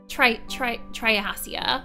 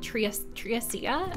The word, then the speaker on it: Triassia: The first time that we played the demo, I think I pronounced it more like Triassia, and I'm like, no, that's probably not right.